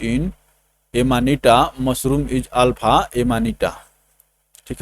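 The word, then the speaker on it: Amanita: अब देखिए एनिमाटा। एनिमाटा क्या है दोस्तों? एनिमाटा इज ए टॉक्सिक मशरूम। एनिमाटा देखिए एमानिटा कर रहा है, गलत प्रोनाउंस हो रहा था।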